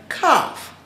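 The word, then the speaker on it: kaf: So the the number 20 corresponds with the Hebrew letter cough. K A F. And some people spell it K A P. should sound the same, but it simply means productivity.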